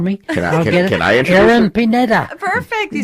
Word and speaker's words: Pineda: Can I introduce Erin Pineda.